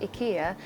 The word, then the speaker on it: IKEA: actually learned quite a lot not just that Ikea is actually pronounced Ikea but so much more if you want a